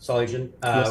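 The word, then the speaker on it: Solugen: So solen pronounced solen we got started in 2017 spun out of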